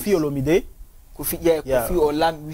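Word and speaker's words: Olomidé: Kofi Olomide. Kofi Olamide. We say Olamide or Olamide. It's not Olamide. It's Olomide. It's Olomide. Okay. Kofi Olomide. Okay. Yeah, don't pronounce it in English.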